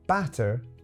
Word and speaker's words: batter: But for now, let's just say that butter, masło, is the difficult one, and batter, panierka, is the easy one. It's pronounced almost exactly like in Polish.